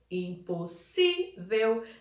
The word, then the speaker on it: impossível: Impossível, a sílaba tônica é si. Lembrando que na palavra impossível, a sílaba tônica vai ser si, que é o segundo S com a letrinha I.